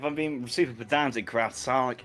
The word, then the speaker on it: Psionic: Um, if I'm being super pedantic craft, Sonic is spelled with an I instead of a Y. It's French sionic. Not it's it's definitely PSI.